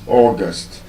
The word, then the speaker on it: august: But then, that word is not stressed on the first syllable, like I told us. As a noun, which is the month of the year, is August. But as an adjective, it defies that rule that the bisyllabic adjective would usually be stressed on the first syllable. And so, that word therefore becomes august, just like I have told us.